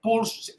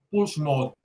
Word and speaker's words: Pulse: Se llama Puls. En español se escribe pulse mode. Puls mode es un ecógrafo israelí.